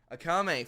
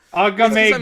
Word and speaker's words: Akame: Akame, fuck. I keep wanting to pronounce the K as a G, and I don't know why. Agamic. Agame Gok It's because Kill.